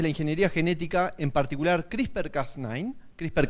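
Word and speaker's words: CRISPR: Que se pronuncia Crisper en particular, qué implica editar un genoma y qué podemos hacer hoy con Crisper y qué no.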